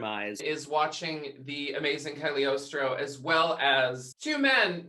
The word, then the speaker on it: Cagliostro: live assistant announces that this is the great caliostro that's the last time we'll hear it pronounced like that because it's actually cagliostro but the first time we hear it it's